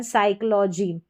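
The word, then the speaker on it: psychology: से स इसका उच्चारण साइकोलॉजी।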